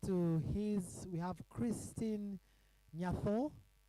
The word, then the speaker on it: Nyatho: And just next to his, we have Christine Nyatho, though culturally it's pronounced as Nyato.